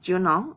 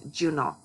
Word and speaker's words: Junot: Okay, and speaking of that, Diaz's first name is Junot. It is not Juno or Yuno, it's Junot is how he pronounces it, in the kind of Spanish from the Dominican Republic.